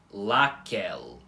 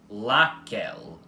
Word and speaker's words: laquel: Porque, como já expliquei para vocês, quando a letra L na língua balborana aparecer no fim de uma palavra, ela vai continuar com o fonema L.